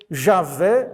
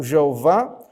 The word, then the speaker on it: Javé: Então, eh, os estudiosos modernos preferem essa pronúncia do que a tradicional Jeová segundo Hamilton.